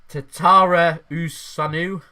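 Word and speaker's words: Tătărușanu: chereeki Olivier T taranu right tatara USU that's how you say his name and Bard as well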